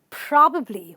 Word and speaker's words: probably: probably do it so this word is probably where you stress the pra and you say probably probably means you may do